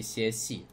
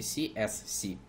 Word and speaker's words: CSC: Тем более это аббревиатура, и здесь каждая буква, по идее, по правилам, не за, в английского языка, зачитывается именно так, как она звучит в алфавите, то есть все-таки CSC.